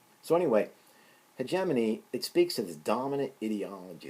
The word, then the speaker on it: hegemony: wrong to call it hegemani in fact in some European countries that's how it is pronounced so anyway hegemony it speaks into dominant